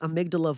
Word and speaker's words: amygdala: For instance, a longitudinal study of MBSR reported that reductions in stress were correlated with decreased volume of the amygdala?